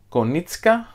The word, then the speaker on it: Konieczka: wars the mandalorian adventures a game by corey konieczka that's how it's pronounced and josh beppler a game by unexpected